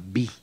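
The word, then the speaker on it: Viy: Bueno, ya vi que te fascina, no solamente su obra, sino su personaje, su personalidad.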